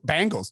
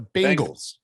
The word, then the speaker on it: Bengals: do you say that how do you say bengals by the way bengals bang bangles no that's the band it's the bengals what do you say